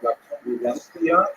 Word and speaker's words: La Convivencia: Spaniards say something like La Convivencia, as they pronounce that C as a TH sound.